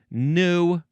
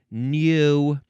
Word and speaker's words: gnu: It's the word new or also new spelled G N U.